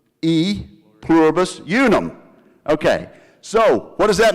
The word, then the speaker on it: E pluribus unum: A pluribus innuum. Otherwise pronounced E pluribus unum.